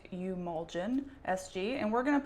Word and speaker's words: Eumulgin: So, I did a haul in my last video where I got Emulgen SG, which is pronounced umen SG.